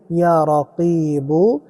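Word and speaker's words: يا رقيبُ: ইয়ারবু ইয়া রকিব। এখানে অনেকেই অজিফাটি পড়তে ভুল করেন। যেমন ইয়ারাকিবু এটা হচ্ছে বাংলা উচ্চারণ। এজন্য আপনাকে বিশুদ্ধ উচ্চারণেই পড়তে হবে।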